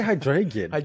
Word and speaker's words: Hydreigon: Oh, why do I always say Hydreigon?